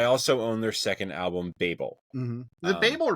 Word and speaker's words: Babel: I looked it up to make sure the pronunciation. Oh, okay, all right. It is Babel.